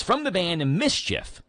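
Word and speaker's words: MSCHF: for backward bwd backward it's from the band Mischief spelled m-s-c-a CHF but pronounced Mischief uh they're the same companies selling those I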